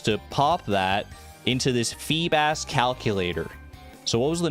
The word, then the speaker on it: Feebas: The pronunciation of Feebas is yikes. What do you What do you expect me to say? Feebas. Feebas. Yeah, like seab bass.